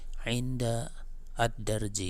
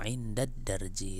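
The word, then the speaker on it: عند الدرج: Inda kemudian ada addarji maka cara membacanya bukan Inda addarji Bukan tapi langsung Indad darji itu kan ini lagi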